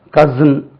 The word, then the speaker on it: cousin: கசின் COUSIN கசின் Z என்று உச்சரிக்கப்படுகிறது.